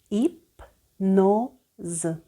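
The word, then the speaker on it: hypnose: одержується а Ми продовжуємо наступне правило літера с між голосними коли ви бачите цю літеру в оточенні голосних Ви читаєте її звуком з і за і за дефіра дезір гіпнози іпноз іпноза не звертайте увагу на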